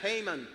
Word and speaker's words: Haman: Y se pronuncia Haman en inglés.